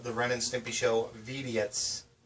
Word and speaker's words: Vidiots: A complete in-box copy of the Ren and Stimpy Show Vidiots. You have to say it like Stimpy because that's how they spell it.